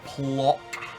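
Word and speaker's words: Płock: I think he launched a barrage to get the breach in Plock.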